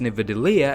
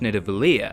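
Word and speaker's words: Nidavellir: weapon to kill thanos he pronounces the destination as Nevada Lea instead of Natalya he says it wrong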